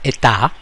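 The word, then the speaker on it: état: much ETI of society in French the e e a uh t a is pronounced ATA that's state so has to be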